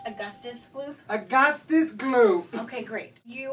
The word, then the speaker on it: Augustus Gloop: so i'm here with augustus loop it's pronounced augustus gloop augustus glue okay great you are officially going